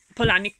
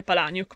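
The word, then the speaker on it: Palahniuk: la pole a nick polani come dice lui dice non si dice palaniuk ma si adatta perché la gente apparentemente sbaglia a pronunciare il suo cognome ma è che siano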